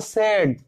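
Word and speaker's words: said: সেইড, এর উচ্চারণ কিন্তু সেইড না, যেমন আমরা পেইড বলি তো লেইড বলি, কিন্তু এস এ আই ডি এর প্রোনাউন্সিয়েশন হচ্ছে সেড, তো এর অনেক সময়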